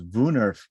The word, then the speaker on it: woonerf: ken on wounders booners dave informs me in the background that it is vuenerf and i'm sure that i'm destroying the pronunciation even there and thomas rce environmental